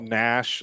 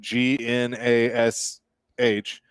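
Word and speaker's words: Gnash: Can I sure can I just tell you that one of my pet peeves is when people call Nash the Predator's mascot that spells his name G N A S H call him G Nash like no he does that.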